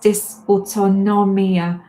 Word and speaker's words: dysautonomia: It's pronounced dysautonomia.